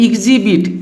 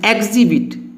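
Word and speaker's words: exhibit: इसको पढ़ते हैं एग्जिबिट। एग्जिबिट नहीं पढ़ना है, यहाँ पर ई का उच्चारण ए आ रहा है, इसको पढ़ना है एग्जिबिट।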